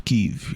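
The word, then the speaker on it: Kyiv: Kev. You're supposed to say Kev, I think. I think that's how you're supposed to pronounce it.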